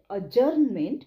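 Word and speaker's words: adjourn: pronunciation ऐका स्थगिती म्हणजे अजर्नमेंट किंवा स्टे पुढचा शब्द आहे स्थगित करणे म्हणजे टू अजर्न ठीक आहे डी हा ड उच्चार वापरायचा नाही स्पेलिंग बघाल तर सो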